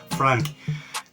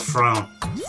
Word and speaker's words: frown: around that time will rather pronounce frown as Frank why you franking your face instead of saying why do you frown your face or why you Fring your face they say why are you franking your face Frank you isun Frank but actually not Frank it's frown frown yeah just frowned my